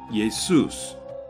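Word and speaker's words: Ἰησοῦς: this sound is dropped the Greek alphabet also has no SH sound so it uses the s sound then Greek male names end with s so the S was added at the end and this is how yahushua the hebrew name became yay Seuss the Greek name it is common for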